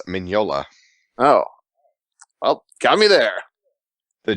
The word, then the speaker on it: Mignola: I learned not too long ago, it's Mignola. well, got me there. The GN use a, insane. Yeah. What? You don't pronounce the G. Oh, like in the word sign.